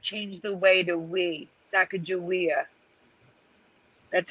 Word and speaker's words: Sacagawea: yes wizardry except change the way to we sacagawea that's how we pronounce it here eleven oh we lost theresa